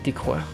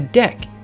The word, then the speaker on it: deque: I keep pronouncing Python's DQ as dequeur. It's pronounced dec.